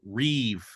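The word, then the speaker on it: rîb: One thing that's very common is what's been dubbed the Rev pattern. It's spelled R-I-B, but that's coming from the Hebrew word Rev, which means contention.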